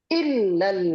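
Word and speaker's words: إلا: Dia bacanya ilal ladzina amanu. Ya, itu kalau ilal ladzina amanu kepada orang yang beriman tujuannya. Bukan pengecualian. Kalau pengecualian ada kalimat illal ladzina amanu.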